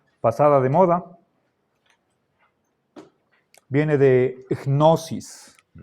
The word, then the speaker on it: gnosis: Recuerden la pronunciación de esta palabra, gnosis. Tenemos que pronunciar la primera consonante que es en sentido de G suave, gnosis.